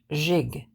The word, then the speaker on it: gigolo: in the third place the gig is pronounced jig and a whole is